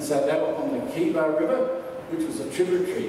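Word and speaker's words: Chebar: of the Kiba River, so K-E-B-A, so it's Kiba, it's actually spelled C-H-E-B-A-R, but we pronounce it Kiba.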